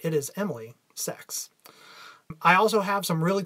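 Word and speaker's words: Saex: I would like to officially welcome my new show producer, Emily Sex. That's S-A-E-X. If you think it sounds like something else, I am attempting to say it right. It is Emily Sex.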